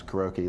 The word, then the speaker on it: karaoke: karaoke yeah I pronounce karoki that's actually a proper Japanese pronunciation so you hate me